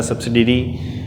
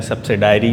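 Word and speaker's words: subsidiary: Next जिसे कहते हैं इन्होंने हमें कहा था सब्सिडरी लेजर जिसे कहते हैं हमने बनाना है, सब्सिडायरी लेजर भी इसे कहते हैं। ठीक है, डिफरेंट प्रोनाउंसिएशन में इसे हम लोग कंसिडर करते हैं।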